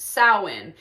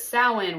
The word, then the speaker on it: Samhain: um but he also was like oh it's pronounced sa and so you have people from all over